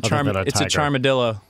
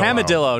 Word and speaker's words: Camadillo: Dude, it's a charmadillo. Is that part Charmander, part... No, it's part... Armadillo? It's part chameleon... It's Camadillo. Camadillo, not Charmadillo.